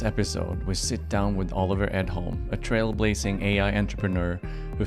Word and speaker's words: Oliver Edholm: So welcome to Oliver Edholm. In Swedish, I guess it's Oliver Edholm, but no one would understand what I'm saying if I pronounced your name that way.